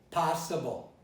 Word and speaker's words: possible: And when I say possible, I could have said possible. But I don't say possible because my dialect says possible. It's an ah. It's an ah. It's not an aw.